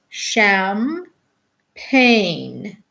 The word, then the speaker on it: champagne: to buy it too they spell it c h champagne coffee say it is pronounced sham pain oh yes big madam